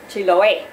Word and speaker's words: Chiloé: en un eje pennsyvania chiloe con acento en la última sílaba Porque allá empuja la